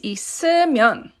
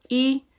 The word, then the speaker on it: 있으면: So only when you're speaking, but a word like this is pronounced 있으면 because this double S moves up here. It takes the place of this ning, this open circle.